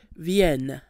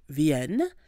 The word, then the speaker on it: vienne: subjunctive form, which is vienne, V-I-E-N-N-E. Now notice the difference in pronunciation. The indicative, je viens, with the nasal sound ia, versus the subjunctive, vienne, which is what we have here, that doesn't have the nasal sound.